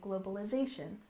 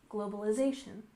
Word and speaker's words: globalization: between countries next is globalization we stress this syllable here in globalization globalization which is the process